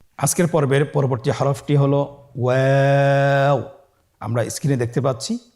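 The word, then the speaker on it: واو: আমরা স্ক্রিনে দেখতে পাচ্ছি ওয়াও হরফটি উচ্চারণের ক্ষেত্রে বারিক হবে এবং 3 আলিফ টেনে পড়তে হবে। আপনারা আমার সাথে বলুন ওয়াও ওয়াও। 2 ঠোঁট গোল করে মাঝখানে ফাঁক রেখে হরফটি উচ্চারণ করতে হবে।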